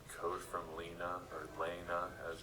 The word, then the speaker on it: Lena: I was met with this GitHub repository with a folder in it called Code from Lena, or Lena as it's pronounced.